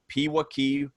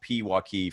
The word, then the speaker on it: Pewaukee: Allison actually had to send me an email and spell out Pewaukee phonetically, so I'm here in Knoxville, Tennessee, and we were just joking around that the more vowels in a word, us Southerners kind of get lazy with that.